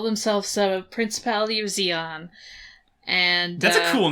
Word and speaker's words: Zeon: oh damn, they're called Zeon. They're cool. The bad guys are cool. It's like neon but Zeon. Oh yeah, and Z's a cool letter. They're not bright enough to be rhyming with neon though.